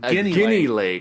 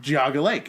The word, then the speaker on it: Geauga Lake: actually we had mentioned guinea lake we said guinea lake and because we started saying hey hey hey that's was my home park that's not how you pronounce it and he said